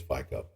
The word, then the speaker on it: Fico: current prime minister uh Pico Pico or Pico I think it's FICO at least that's the English pronunciation of it so Slovakia